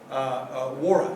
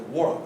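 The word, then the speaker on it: Nwaora: Mackenzie Noah, Wara, excuse me, I'm saying it right, it's a Wara, right? It's a silent N.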